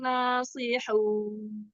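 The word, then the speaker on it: لَنَاصِحُونَ: waktu pas terakhir ee jangan ditekan keras-keras di nunnya. Lasiun jadi berhentinya tuh enak. Hun jangan hun jangan di apa? Jangan di Iya kayak ada ini tasdid ya tadi ya ee apa bukan jadi terlalu keras ditekannya padahal kan nun itu tawasut ya namanya ya kayak dibantingnya ya. Iya, kayak di bukan dihentak sih, cuman agak terlalu keras aja.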